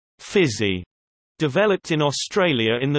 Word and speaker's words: physie: A physical culture practice for women, informally known as Physie, pronounced Physie, developed in Australia in the 19th century and continues to this day.